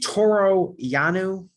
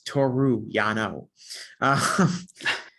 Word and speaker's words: Toru Yano: Toro Yanu, I just pronounced his name wrong. It's Toru Yano.